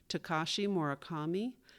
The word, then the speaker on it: Takashi Murakami: In reading Yayoi's bio, the correct pronunciations of 2 mentions are Takashi Murakami and the Holt Smithson Foundation.